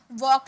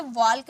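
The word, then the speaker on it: walk: जैसे कि एग्जांपल में वॉक ले लीजिए, इसे वॉल्क नहीं, एल साइलेंट होता है, इसे वॉक पढ़ते हैं, वैसे इसे फॉक पढ़ेंगे, फॉल्क नहीं पढ़ेंगे, ओके।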